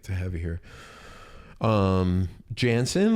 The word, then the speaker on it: Janssen: Um, Jansen, like Jansen, like Swedish, is that how it's pronounced?